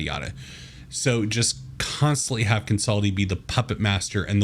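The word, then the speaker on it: Kansaldi: the fire eyes with every encounter hype up Consulting uh actually let me look at the pronunciation guide see if I'm pronounced consulti fireeyes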